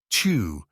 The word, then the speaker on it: Tyr: For example, we have the pagan god Tu, or Tyre, pronounced Tu, where we get our word Tuesday from.